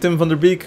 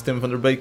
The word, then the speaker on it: Tim van der Beek: We've got Tim van der Beek, which is his name pronounced in English. It's Tim van der Beek in Dutch.